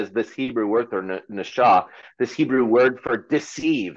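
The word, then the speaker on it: נחש: is spelled NASA for beguiled or deceived it's pronounced Nasha and and there's no denying that that these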